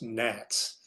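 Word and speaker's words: NHATS: This is pronounced NATS uh like the bug uh NAT methodology.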